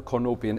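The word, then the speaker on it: Cornopean: one that was the core no payin core no pian core Nepean various different ways of pronouncing it everybody argues about it I dare say there will be a million in one comments about it how to pronounce it properly well get on with it that's the kono pian it's in the swell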